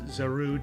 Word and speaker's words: Zarude: It is Zarude, 2 syllables.